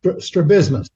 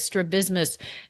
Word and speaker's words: strabismus: talk a lot about I'm probably mispronouncing this one too as strab strabismus strabismus oh the stresses in a different place strabismus and is that what